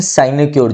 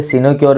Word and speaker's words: sinecure: जैसे एन arm chair job हर कोई आज चाहता है, इसे हम बोलते हैं साइनेक्योर जॉब। कई बच्चे सिनोक्योर भी बोलते हैं, जैसे मर्जी प्रोनाउंसिएशन रख लो, स्पेलिंग का ध्यान रखना है।